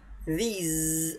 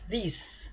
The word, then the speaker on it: these: these words، خلي بالك انطق الكلمة دي these، ما تقولهاش these، غلط.